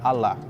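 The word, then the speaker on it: Allah: em árabe significa alá é assim que é pronunciada em árabe alá essa é a palavra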